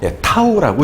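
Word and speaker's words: tau: 타우라고 읽을 겁니다.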